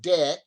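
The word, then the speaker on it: deque: at either end and it's called a deck d-e-q-u-e pronounced deck and so there's uh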